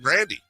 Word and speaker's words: Grande: the bit where you tell us we're all pronouncing Ariana Grande wrong it's her bit she says it's Ariana Grandy that's her you look it up she says